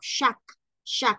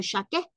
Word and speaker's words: chaque: Hay que recordar lo que ya hemos dicho, que la, por ejemplo, la E no tildada, pues no se pronuncia, sino que aquí diríamos chaque jour dépendance à l'amour. Chaque, no chaque, sino chaque jour.